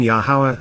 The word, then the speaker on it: Yahowah: Yar laughter no laughing matter the conversations between yahwah and Abraham continued as usual God painted the